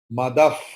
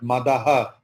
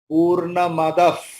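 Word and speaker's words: पूर्णमदः: Madaf, not Madaha. Jetli ji, every time same mistake you commit. Not from today. Madaha is written, but after Visarga there is Pa. So Visarga's pronunciation will be Pa. Okay? Purna Madaf.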